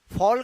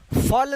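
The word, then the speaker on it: fall: मतलब होता है गिरना इसको फाइल या फल नहीं पड़ेगी क्या करेंगे फॉल यानि इसे एक का उच्चारण और होगा चिकित्सा क्यों क्योंकि यहां पर एक के जस्ट बाद डबल आया है ठीक है यहां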